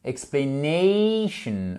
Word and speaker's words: explanation: Explanation, ok? Vous voyez ici, j'ai mon accent tonique qui est juste là. Explanation.